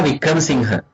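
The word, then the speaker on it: Wickramasinghe: Okay, this is how you pronounce his last name. Chandra Vikram Singha.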